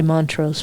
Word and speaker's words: Montrose: when we did um Montrose and and the church see I said it right just for you. It's really mantro, folks.